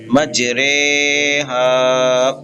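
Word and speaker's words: مجريها: इमाला की रा को हमने कतरे की रे की तरह पढ़ना है, बल्कि री नहीं रे पढ़ना है। तो ये एक ऑप्शनल है, आप इसको हिज्जे के वक्त रा ऑफ इमाला रे भी बोल सकते हैं, रा इमाला वाली रे इस तरह भी हिज्जे कर सकते हैं, लेकिन रवा में रे पढ़ना है, री नहीं पढ़ना, बस इसका ख्याल करना है।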